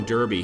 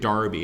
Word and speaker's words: Derby: And we've also got Colonel Derby here. Or is it Darby? It might be Darby, I think is the correct pronunciation, in fact.